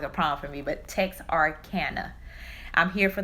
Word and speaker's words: Texarkana: Texarkana.